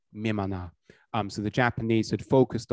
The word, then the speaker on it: Mimana: One of these is called Imna, but that's the Korean pronunciation, and the Japanese pronunciation of Imna is Mimana.